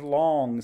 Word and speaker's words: long: Our first word is long. Say long. Map the sounds. L, ah, ng. Long. And if you notice, the O here is a short vowel, and ng says ng.